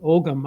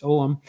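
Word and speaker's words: Ogham: there was a Celtic om or people sometimes pronounce it ogam I used to pronounce it ogum but it's omam and they're all found on our site but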